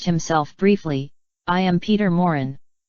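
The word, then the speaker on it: Maurin: briefly I am Peter Moren he pronounced it Morin with the accent on the first syllable deliberately anglicizing the word George Schuster editor of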